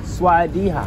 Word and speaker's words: Sawasdee kha: Sawadee ka. Sawadee ka. Sawadee ka. By the K. Sawadiha. Sawadiha. Yeah, Sawadiha for you. If you say like her, you are lady boy.